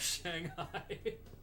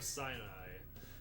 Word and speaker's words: Sinai: Fire of Shanghai. It's fire of Sinai. And I only know it's pronounced that way because of uh Behemoth's album, The Satanist.